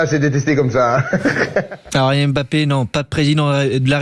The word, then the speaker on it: Mbappé: Alors vous avez vu comment Elvin il prononce bien, il dit bien Mbappé et non pas Mbappé. Dans la langue on dit Mbappé.